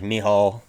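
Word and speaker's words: Michał: I know his first name is pronounced like Mihal, and then last name Oleg Zuchenk, something like that.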